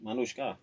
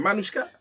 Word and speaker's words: Manushka: Maniannushka. Oh lord. Manushka. Think of Manny Pacquiao.